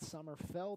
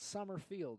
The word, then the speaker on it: Summerfeld: away with Nason summerfeld realized I was saying his name wrong the entire time that summer fell not summer field so anyone who's watching